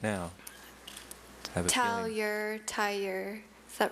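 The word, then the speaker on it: tailleur: Have a tur. Is that right? T A L L U R E Tur is spelled T A I L L E U R.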